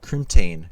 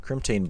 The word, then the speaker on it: crimtane: last and final one is is cryptane crimtane bar I keep mispronouncing this one so uh good